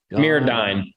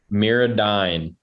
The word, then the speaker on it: MirrOdine: Mirrodine. D-I-N-E. D-I-N-E. You can't sound it out. English teacher would go with you, but Mirrodine.